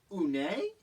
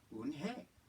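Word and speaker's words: Unhei: "Une?" the girl asked, scrunching up her face. "Une?" some kids chanted. No, Eun-hye corrected. It's spelled U-N-H-E-I. It's pronounced Eun-hye. "Oh, it's you-hey," the boy said.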